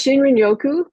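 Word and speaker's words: shinrin-yoku: How do you pronounce it? Shinriku. It's Shinrioku.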